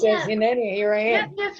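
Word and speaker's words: הִנֵּנִי: And the Hebrew is Hineni. Hineni. Where's Hineni, if Oh, you pronounce Hineni.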